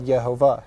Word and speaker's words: Yehovah: say yeah ova but J is not in Hebrew yeah they would have had Yehovah so that's an important